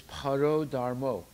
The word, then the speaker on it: para dharmo: the principle of euphemism the actual word is para dharma but it's pronounced for euphemistic purpose euphemistic means sounds better right more more poetic in the verse it's para dharmo okay although the word